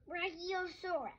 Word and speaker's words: Brachiosaurus: Brachiosaurus. Brachiosaurus. How do you say that again? Bra-chi-o-saurus.